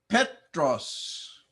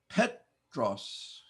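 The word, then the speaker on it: Πέτρος: must make two sounds Petros Petros notice the accent on the first syllable pet Ros Petros Peter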